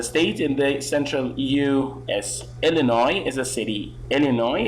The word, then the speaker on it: Illinois: your hand is in opposite directions next one Illinois Illinois you can play that in Illinois the SNB